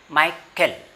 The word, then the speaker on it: Michael: Now see here it is CH, but that is actually not CH sound, it is K sound, Michael.